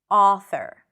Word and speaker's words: author: Now, this is one pronunciation of the sound, but in some dialects, especially on the east coast in the US, you will notice that this sound is a bit more rounded. So, instead of author, you will hear author. So, the lips are a bit more rounded. Author. Whether you choose to pronounce it as a author, daughter, or author, daughter, it doesn't matter.